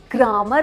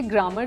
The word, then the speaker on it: grammar: लिखते हैं, मेरी ना ग्रामर अच्छी नहीं है। उसका भी कुछ करेंगे, लेकिन पहले इसको करें, क्योंकि ग्रामर तो होता ही नहीं है। GRAMMAR इज नॉट ग्रामर, इट्स ग्रामर, ग्रामर है नो।